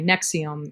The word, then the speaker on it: NXIVM: Anyway, Nexium. It's spelled Nxivm.